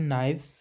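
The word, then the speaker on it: knives: एन आईवी ई एस यहां पर जो के है वह साइलेंट रहता है इसको पढ़ते हैं नाइव्स नाइव्स होते चाकू नेक्स्ट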